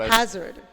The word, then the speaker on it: Hazzard: Oh, how do you pronounce it? Hazard. Hazard. Yes, Hazzard for that matter.